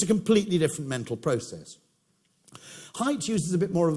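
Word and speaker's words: Haidt: answer but it's a completely different mental process height uses a bit more of a poetic me metaphor h a i DT it's spelled he refers to the brain as the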